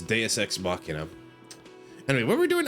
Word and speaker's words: Deus Ex Machina: but the end is Deus Machina. Deus Ex Machina. Yeah. That's how it's usually pronounced, I believe, is Deus Ex Machina.